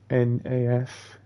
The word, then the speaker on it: FNAF: FNAF. That's the initial words. Which is Five Nights at Freddy's. But put it all together as one word, it's pronounced FNAF.